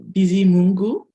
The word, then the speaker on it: Bizimungu: Yeah, so it's pronounced Bizimungu. So I usually shorten it to sometimes. It's just easier and it rolls off the tongue.